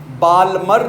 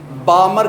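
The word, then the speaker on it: Balmer: ये एम L silent है, बाल्मर नहीं कहना, बामर कहना है, बामर।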